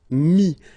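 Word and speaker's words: mis: And then mettre, to put, so E-T-T-R-E will give you this I-S, mi. Same thing here, final S is not pronounced. Mi, okay.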